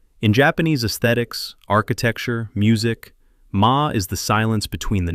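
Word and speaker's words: 間: In Japan, there is a concept called ma, pronounced ma.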